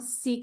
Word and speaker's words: Ceek: Seek is spelled with the C, and we're happy to send them samples of the product.